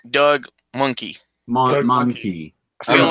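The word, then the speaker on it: Mahnke: It's pronounced like monkey. Like It's Doug Monkey.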